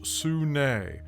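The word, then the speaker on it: Sune: let's go let's go pronounced sunay known as lady i know right because it looks like soon kevin ross was a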